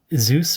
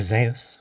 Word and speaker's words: Zeus: the king of gods now zeus or zeus which may be a better way of pronouncing his word because i will deviate quickly and say zeus z-e-u-s it rhymes with the deus which is the latin for god our god uh deus omniscient